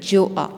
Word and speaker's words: Gjoa: उसको लीड कर रहा था अपनी शिप में, जोआ में। इसमें GJOAA जोआ लिखा हुआ है, लेकिन आपने जी को साइलेंट कर देना है, जे से प्रोनाउंस करना है।